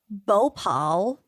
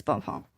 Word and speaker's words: Bhopal: One of history's worst industrial disasters happened in December of 1984 in a city called Bhopal. I'm sorry, I don't know if I'm pronouncing. I think it's Bhopal.